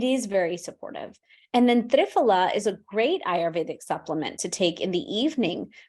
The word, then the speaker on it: triphala: But let's talk about a few other ones that benefit the gut, namely ginger and triphala. Am I pronouncing that correctly, or? We pronounce it triphala.